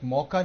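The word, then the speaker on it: Mocha: ওকে দর্শক বন্ধুরা, আপনারা জানি রাখি অনেক মৌকা নিয়ে, সাইক্লোন মৌকা যেটাকে অনেকেই মোচা বলছেন, মোচা সাইক্লোন মোচা বলা হচ্ছে, ইয়েমেন নেম। হ্যাঁ, ইয়েমেন থেকে এই নামটা দেওয়া হয়েছে এবং এটার উচ্চারণটা মৌকা, সাইক্লোন মৌকা।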